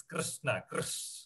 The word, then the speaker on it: Krishna: It's Krishna. It's a very subtle difference, okay? You have to get hang of it.